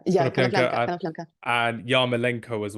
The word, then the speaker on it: Konoplyanka: I'm a big fan of Konoplyanka. Do you pronounce that? Did I pronounce it correct? Konoplanka. Yeah, Konoplyanka Konoplanka, Konoplanka.